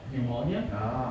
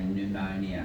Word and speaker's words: pneumonia: uh for this uh pneumonia at only not not even 40 years All of them. You don't pronounce the P, so you just say pneumonia.